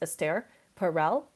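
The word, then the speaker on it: Esther Perel: how all of that can exist check out astaire perel esther like it's spelled like esther but she's it's pronounced astaire perel p-e-r-e-l she has um incredible resources she she's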